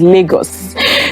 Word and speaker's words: Lagos: That's what you people say, Lagos, but the correct pronunciation is Lagos.